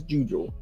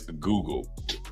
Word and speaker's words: Google: That's just how you pronounce Google. From now on, we pronounce it as Jujul. No, we will not. The Jujul. You can pronounce it as the Jujul. Grown people will pronounce it as Google.